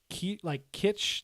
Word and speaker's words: kitsch: The word I was looking for was kitsch, like quiche.